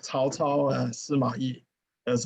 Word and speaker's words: Cao Cao: Okay, unfortunately, the English Romanized spelling doesn't have the tone, so should pronounce it Cao. Cao. Okay, that's two words. Cao is his last name. Cao is his first name. So okay, some people pronounce it very strange, Cao Cao, something like this, but that's Cao Cao.